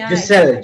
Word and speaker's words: Giselle: Giselle. G, like how you pronounce G, yeah, Giselle.